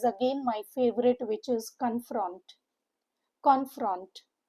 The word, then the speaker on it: confront: Two syllable word. Stresses on the second syllable. Confront. U sound with O letters. C O N is K U N. And F R O N T is F R U N T.